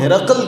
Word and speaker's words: ہرقل: جب ہرقل بادشاہ نے، جس کا تلفظ ہرقل کیا جاتا ہے اور اس پر ہم